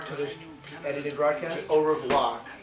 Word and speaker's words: au revoir: Au revoir to the edited broadcast. Au revoir. You don't pronounce the R Yeah, here.